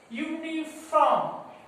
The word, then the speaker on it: uniform: Unit, the same pronunciation, unit, u pronunciation a. Usage means a custom, একটা প্রথা বা রীতি এটাকে বলা হয়. A usage. Uniform, a uniform, a uniform.